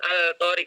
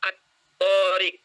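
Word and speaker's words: الطارق: Kemudian, at-tariq. Tidak dibaca al-tariq, tapi at-tariq. Maka ini namanya idgham atau alif lam syamsiyah.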